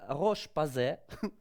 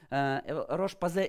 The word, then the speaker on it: Roche-Posay: We are staying in France, and Pavel today is a beauty tech manager la Roche-Posay, French pronunciation, Roche-Posay International in L'Oreal.